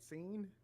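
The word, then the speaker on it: Seine: the scene is that how you say it scene the river yeah is that how you say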